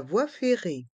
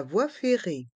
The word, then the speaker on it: voie ferrée: férrée la voix fé les voyelles o et i dans le mot voie se prononce o vois les deux e à la fin du mot voie et du mot Ferré sont mué la voix fé la